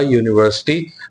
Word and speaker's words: university: However, a university, now university you might say it starts with a u which is a vowel, but then it has a consonant sound because when we say a university the sound that comes